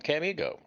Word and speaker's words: Camigo: He's from Camigo, which is how he pronounces it.